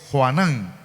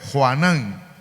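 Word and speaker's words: יוחנן: el nombre de juan la forma griega del nombre hebreo es juanan o sea que así se pronuncia en el hebreo juanan y lo que significa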